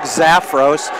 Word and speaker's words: Zafros: us just email me at Greg at Greg zafos . zafos is spelled just like it sounds ZF R oos